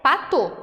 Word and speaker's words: Patau: síndrome de pato e eu gostaria de me retratar aqui porque em aulas anteriores eu falei para tal então a forma correta de se pronunciar é pato Ok então descrita em